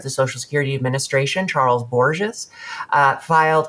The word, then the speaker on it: Borges: Uh a news story broke that chief data officer of the Social Security Administration Charles Boures uh filed I I hope that is pronounced somewhat like Erns Borgenine. Uh Charles Boures uh filed a protected